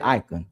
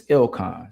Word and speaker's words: Ilcon: Or they'll say, "Icon Icon." I'm not icon either. It's Ilcon. So, if y'all ever want to pronounce my name right or correctly, it's Ilcon.